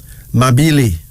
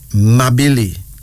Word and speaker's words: Mabili: Our first male name is Mabili. Mabili. That's spelled M-A-B-I-L-I.